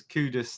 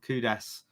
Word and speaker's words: Kudus: kudas during International break it's kudas not kudas or Kudos a lot of people say Kudos yes kudas um Steve